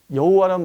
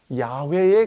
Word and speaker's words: 야훼: 그래서 훗날 이 케티브 케레의 독법을 좀 연구하면서 여호와라는 발음은 YHWH의 발음이 아니다. 그럼 무엇에 가깝겠느냐? 아마 야훼에 가깝지 않았겠느냐라고 하는 연구 결과가 나오게 되죠.